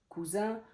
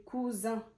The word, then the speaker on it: cousin: Donc c'est vraiment, si vous écrivez cousin avec deux S, sachez que vous écrivez pas le même mot. Cousin et coussin, c'est pas du tout la même chose.